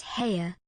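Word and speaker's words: Haigha: happy his name is hare he pronounced it so as to rhyme with Mayor I love my love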